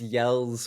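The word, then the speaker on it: Jelle's Marble Runs: Oh, I love it's Yell's Marble Runs, spelled with a J, Jelle.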